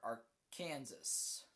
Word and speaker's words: Arkansas: You have to pronounce it Arkansas or AR Kansas. You pronounce it Arkansas like legally like in documents and stuff.